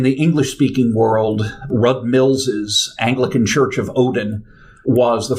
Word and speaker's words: Anglecyn: folks um yeah it's clearly supposed to be pronounced Anglican so so if somebody